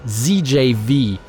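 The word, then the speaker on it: Zjaev: I finally know how to pronounce the Githzerais name. It's ZJV.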